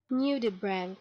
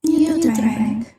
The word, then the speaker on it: nudibranch: How do you pronounce that word? Lullabread. Lullabread. Nudibranch. Nudibranch.